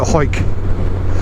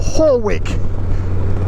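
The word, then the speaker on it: Hawick: We're going to take it off to the left, head to Hoyk, or Horwick, as southern people pronounce it.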